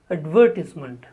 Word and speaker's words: advertisement: The next word is advertisement. Advertise is a verb and the noun form is advertisement. The stress is on the sound v.